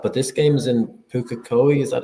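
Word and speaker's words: Pukekohe: The one the one thing that's worrying me is the rain is going to stop but this game is in Puka Koi.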